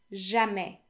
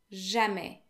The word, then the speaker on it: jamais: Never technically translates to jamais, jamais. The S is silent, okay?